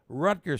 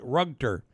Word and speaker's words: Rutger: and by the way there's a street in Utica called Rutger street but there are certain people from the old days that call it rugter now uh we call